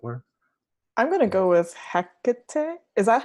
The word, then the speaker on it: Hecate: hottie as it were I'm gonna go with Hecate is that how you pronounce her name Hecate yeah yeah Tecate there you go cacao that's